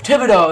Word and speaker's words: Thibodeaux: with thea theodor whatever kayvon thibodeaux thibodeaux that's how you say it cave on thibodaux i'm